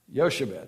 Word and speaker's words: Jochebed: Yoshebel. Yeah, that wasn't how I pronounced it, but we'll take your word for it. Say it again. Yoshebed. Yoshebed. J-O-C-H-E-B-E-D.